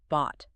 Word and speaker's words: bought: It's a deep open o sound. Bought. Bought. It rhymes with caught or taught.